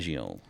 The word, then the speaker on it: Fangio: Fangio.